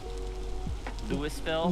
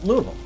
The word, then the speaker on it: Louisville: if you're from out of state you might pronounce it as um lewisville louisville or louis louisville is the other one louisville and if you're local it's louisville louisville yeah all these pronunciations are correct but the